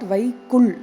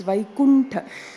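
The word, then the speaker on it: वैकुण्ठ: It is not Vaikul, it's Vaikuntha.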